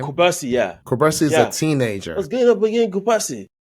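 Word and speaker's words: Cubarsí: Kubarsi, yeah.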